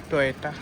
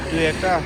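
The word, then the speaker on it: Toyota: Theatre শোরুমের theatre showroom টয়েটা, একজনের আর কি স্পেলিং ইয়ে হয়, সাউন্ড হয়, কেউ বলে টুয়েটা, কেউ বলে টয়েটা। জাপানিজরা টয়েটা বলে।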